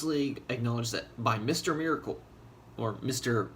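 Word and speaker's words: Mister Miracle: Miracle, or Mr. Merkel? I want to say Miracle, but it's spelled Merkel.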